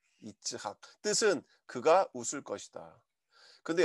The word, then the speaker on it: 이츠학: 히브리어로 발음하면 이츠학이에요. 이츠학.